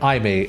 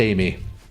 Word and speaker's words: Aimee: I've been pronouncing it Aimee, like the arcade save data card brand. I'm pretty sure it might actually be Amy. And furthermore, why am I wave dashing? There we go. Yeah, it's pronounced Amy.